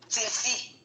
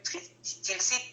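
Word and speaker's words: Tilsitt: 30 rue Tilsi. Tilsi, ça s'écrit T-I-L-S-I-2-T.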